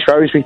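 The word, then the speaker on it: Shrewsbury: But it was it when you mentioned Seresa Teresa, it reminded me of the Shrewsby Shrosbury thing.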